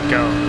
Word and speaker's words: Gomes: I'm told, by the way, that it's pronounced Gomes. It's Alex Gomes, so we'll make that correction going forward.